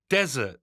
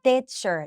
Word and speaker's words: desert: ว่า ออก เสียง ว่า Desert เน้น ที่ ตัว แรก นะ ลูก แล้ว มี เสียง เสียง ตัว ซ ซ โซ่ ด้วย Desert นะ คะ Desert